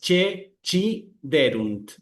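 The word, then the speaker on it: ceciderunt: En la pronunciación italiana se pronuncian como che y como chi. Entonces es che chierunt con acento de la e.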